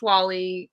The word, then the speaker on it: Wa11y: designer you can um so i just released wall-e um you can find that in the repo and it's spelled wa11y for those unawares accessibility kind of